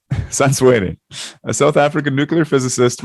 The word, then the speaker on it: Santswere: Africans, we pronounce names differently. So it's Gaopalelwe Santswere.